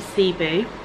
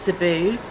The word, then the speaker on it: Cebu: room the good morning from CB or Cebu um two different ways of pronouncing it Jazz and I have